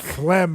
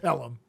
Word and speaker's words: Pelham: they ride it it's actually The Taking of phlegm one two three yeah I know I'm just saying it's pronounced Pelham now the original Taking of Pelham One Two